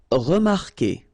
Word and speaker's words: remarquer: Okay, remember that when we've got this Q, and after that, well, vowel like here. Anyway, you've got to put this vowel U, even if you don't pronounce it. Okay, so it will go like que. Okay, remarquer, remarquer.